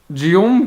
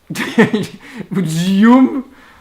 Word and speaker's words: Guillaume: Okay, Guillaume geht jetzt zu Bett.